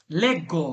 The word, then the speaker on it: leggo: আঞ্জুমান ভাই এটা কি হবে উচ্চারণটা? লেগ্গো।